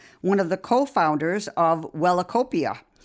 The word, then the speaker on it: Wellacopia: Yeah, Wellacopia. And how do you pronounce it?